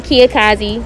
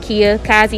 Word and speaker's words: Kia Kazi: I am Kia Kazi. It's spelled like Kamikaze, but Kia Kazi.